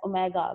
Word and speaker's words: omega: If we name any of these as omega, pronounced as omega, like it's small w but pronounced as omega, hum use omega padhte hain, then the other is omega square.